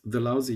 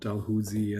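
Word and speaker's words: Dalhousie: is called it's confusing it Rhymes the lousy University easy to remember I looked it up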